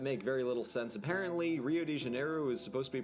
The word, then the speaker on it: Rio de Janeiro: And in other things that make very little sense, apparently Rio de Janeiro is supposed to be pronounced Hugh de Janeiro.